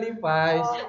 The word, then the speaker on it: Levi's: Lepis. Oh, Kalau astaga. Lepis. Oke, gue juga mikir Levi's ya kayak apaan? Pikir gue kayak gue yang paling kuper gitu kan. Kan bacanya sebenarnya Levi's.